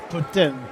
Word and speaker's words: poutine: It's pronounced pin. Putin. Putin. I'm too close to the Quebec border that uh I might get in trouble if I call it poutine.